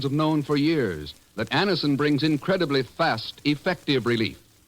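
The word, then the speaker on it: Anacin: dentist thousands of people have been introduced to Anison this way try Anison yourself the next time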